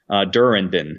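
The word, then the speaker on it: Durrandon: Durandon is how you pronounce it.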